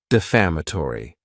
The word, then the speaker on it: defamatory: the word defamatory and this word has five syllables and the stress is on that second syllable defamatory it's not a good